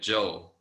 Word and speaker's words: Zhou: articles you read so they pronounce the shia shang and joe joe almost like j-o-u j-o-e that joe that kind of pronunciation so um you guys